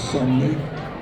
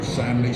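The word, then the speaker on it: Samnee: The guy whose work I really love is a guy called Chris Somney, or Samney, Somney I think you pronounce it.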